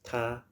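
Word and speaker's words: 他: both are pronounced ta t him t her is pronounced the same but when someone's speaking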